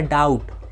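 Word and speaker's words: doubt: आप यहां पे देखोगे टी के पहले बी है तो बी यहां पे भी साइलेंट है जहां कहानी पे भी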